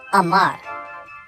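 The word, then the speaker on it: אמר: That is the word Amar. And it is spelled Aleph, Mem, Resh.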